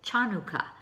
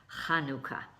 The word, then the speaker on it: Chanukah: And a lot of people pronounce it Chanukkah. Well, that's not the correct way to pronounce it. It's actually pronounced Chanukkah. And it's the letter Het, which we don't have in English.